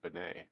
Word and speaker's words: Bennett: yeah I didn't know I mean you know it was Americanized obviously if you Bennett is it Bennett I don't know if they're if they're hoity-toity people that still pronounce it Bene leave a leave it